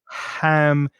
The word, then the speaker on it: ham: Make sure the pronunciation of ham is just from soft.